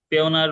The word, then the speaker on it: Payoneer: পেওনার বা পায়োনার এক একজন এক এক ভাবে প্রোনাউন্স করে বলে।